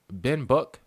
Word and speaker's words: Binbok: like a scuff controller bin book that's how you say it B book all right